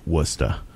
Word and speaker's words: Worcester: That's how we say it, Worcester. Worcester. You gotta say it right, Worcester. I know it's spelled Worcester. Yes. However, you get proper Massachusetts pronunciation. Worcester. Worcester. Woostuh.